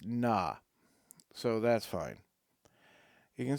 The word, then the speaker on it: Kna: Oh, we have a pronunciation guide. It's na.